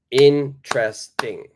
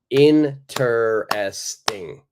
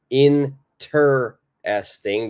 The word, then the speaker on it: interesting: The very first E is silent.